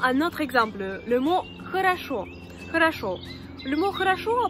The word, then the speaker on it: хорошо: Dans le mot хорошо, il y a 3 voyelles O. Et cependant, une seule se prononce O. Parce que les deux autres ne sont pas accentuées. C'est pour ça qu'on dit хорошо.